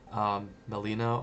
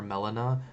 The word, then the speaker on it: melena: And melena or melena, depending on how you pronounce it, it's a black tarry stool because it's either coming up from the front or out the back, right?